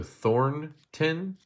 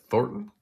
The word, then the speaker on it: Thornton: not know uh no there's an N there so Thornton instead of thoron I guess I don't